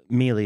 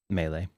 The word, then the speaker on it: Mele: so oh okay gotcha I can tell you no melee is how we pronounce melee so I've been saying it all wrong and you having that right that's the proper way to say it melee melee he says